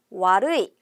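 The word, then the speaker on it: 悪い: 않았어요 한번 보도록 할게요 나쁘다는 루이입니다 나쁘다는 뭐라고요 와루이 같이 발음해 볼까요 와루이 다시 한번 루이 나쁘다는 와루이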